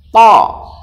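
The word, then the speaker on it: ط: To. Tulisannya THA, dibaca to. Jadi ujung lidah bertemu dengan ujung gigi, kemudian seperti dipantulkan. To.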